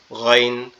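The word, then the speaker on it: غين: গয়নটা হচ্ছে আমাদের এইযে গালের মধ্যে থেকে অর্থাৎ কন্ঠনালীর শেষ অংশ একবারে গলার সাথে মাথার যে অংশটা লেগে আছে এখান থেকে গাইন গাইন গাইন মনে হবে আওয়াজটা কি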